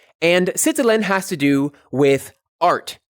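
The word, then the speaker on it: sitelen: the center to indicate some kind of writing it's spelled s i t e l e n citalian and citilin has to do with art writing systems drawing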